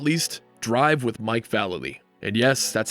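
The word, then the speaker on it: Vallely: shred and last but not least arrive with Mike Valerie and yes that's how you pronounce his name Mike valid um what would you have done to me if I called you valely nothing nothing okay I have to sometimes reference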